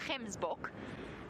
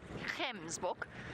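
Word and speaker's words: gemsbok: just by the way we call them Kim book g e m s b o Kim book that hard G and Africans and they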